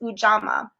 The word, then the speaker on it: Ujamaa: And one of the values in Kwanzaa, and hopefully I listened several times to try to make sure I was pronouncing it correctly, but it's Ujamaa.